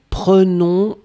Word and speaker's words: prenons: Nous prenons, only one N, and that's the reason why you would pronounce the E like a E.